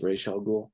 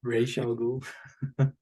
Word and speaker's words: Ra's al Ghul: But it's supposed to be pronounced Ra's al Ghul. Ra's al Ghul.